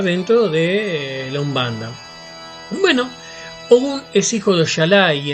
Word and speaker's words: Ogun: se les saluda diciéndole One es la pronunciación correcta une bueno como yo le decía su posición en